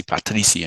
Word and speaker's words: Patricia: uh you know Patricia Patricia what we say in English they say Patricia in Portuguese and Patricia becomes Patty which they pronounce as Pachi so then you get